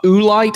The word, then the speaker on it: oolite: It's a type of limestone called uh oolite, I think is how it' be pronounced.